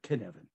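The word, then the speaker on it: Cynefin: way i say it can is like kevin but ken evan so whoops um it's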